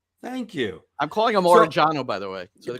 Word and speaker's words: Orellano: So when it comes to Orellano, there's areas in Argentina where they very heavily accent some of the double L's. And so it would be Orellano, right? That's the way that he would pronounce it, maybe.